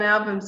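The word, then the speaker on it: Ahlbum: But John Album's always there, and his family, who are all partners in this, his wife and his son.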